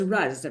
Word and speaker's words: Ruzz: thanks for having me you're welcome so it's RZ right is that how I pronounce it that's it that's it yeah was